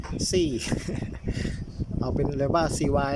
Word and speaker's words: CY: นะ ครับ เป็น daa cy มัน อ่าน ว่า ซี่ เอา เป็น เร ว่า